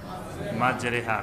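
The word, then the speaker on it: مجراها: এখানে মাজরিহা উচ্চারণ না হয়ে কি হবে? মাজরিহা। কোরআনে কারিমে স্বাভাবিকভাবে জের হলে উচ্চারণ হয় কি? রস্বীকার। এখানে উচ্চারণ হবে একা, এটাকে বলা হয় এমালা, তাজবিদের একটি নিয়ম।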